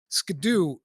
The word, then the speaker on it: Scadu: the DLC it's called the scadu tree or the the shadu tree I'm not sure how it's supposed to be pronounced but it's basically the skadoo tree that's how you write